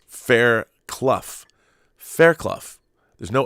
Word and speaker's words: Fairclough: great list oh Dave and he says that fairclough is pronounced Fair Clough yeah it's like you know